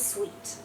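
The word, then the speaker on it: suite: clay so it's Adobe suit suit actually I can't see anyone here wearing a suit because this is sweet okay sweet like you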